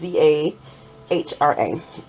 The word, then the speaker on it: Zahra: Again, it's Handmade Zara, and I think I'm pronouncing it right. It's Zahra.